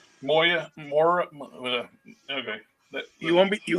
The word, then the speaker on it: Moira: um enchantress myra what which one myra mctaggart oh not myra moya okay you won't be